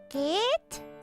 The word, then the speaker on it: geht: Wie geht es dir? Wie geht es dir? And the H in the geht is silent. Wie geht es dir?